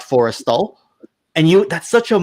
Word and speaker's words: Forrestal: pronunciation the the ship I said was a combination of Nimitz something else and Forester not Forrestal and you that's such